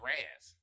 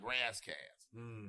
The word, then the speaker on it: Ras Kass: But then the flip side is that I'm an LA nigga, and we would pronounce it Raz, like Razzcast.